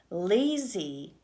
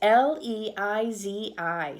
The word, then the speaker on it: Leizi: But we have Lazy. It's Leizi.